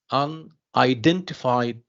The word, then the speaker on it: unidentified: So this, what about when I say unidentified? Defied, yes. Or dent, I'm sorry, dent. Yes, so dent here is the stress syllable.